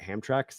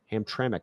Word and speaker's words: Hamtramck: I learned how I always just called it Hamra that's how I thought it was like said like that's how it looked like it was written Hamtramck I learned that's how it's pronounced anyway hope